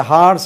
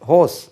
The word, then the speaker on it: horse: இது ஹார்ஸ் இல்லை, இது ஹோஸ்.